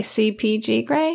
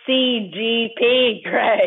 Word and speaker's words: CGP Grey: It's not CGP Grey. CPG Grey, is that right? It's CGP Grey. Oh, I said it right the first time.